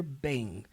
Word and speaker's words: Bing: Bing. So we're A primeira coisa que eu acho muito interessante sobre o inglês é que toda palavra que termina com ing, você nunca pronuncia a letra G, você já percebeu?